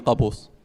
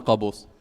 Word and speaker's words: Qaboos: Yeah, So you're the previous sultan, who was Sultan Qaboos. how do you pronounce?